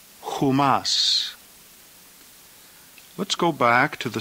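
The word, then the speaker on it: ὑμᾶς: The plural genitive is pronounced humon, humon. The plural dative, humin, humin. And the plural accusative, humas, humas.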